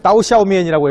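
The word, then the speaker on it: 刀削面: 이쪽에 유명한 음식 중에 하나가 예, 따오샤오미엔이라고 해서 우리말 발음은 도상면이거든요.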